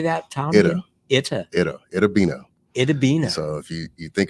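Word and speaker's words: Itta Bena: Itabena.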